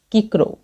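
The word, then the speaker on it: Cicero: کچھ ریفرنسز ہیں اور وہ ہیں ایک تو یہ ہے کہ سیسرو واز undoubtedly the greatest Roman orator. Philosopher تھا. رالسٹن insisted that this name should be pronounced as کیکرو.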